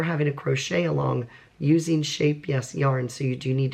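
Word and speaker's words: Scheepjes: they are making a shape yes some of us pronounce it sheep GES but yoka who is from the Netherlands and speaks Dutch told me it's she phonetically spelled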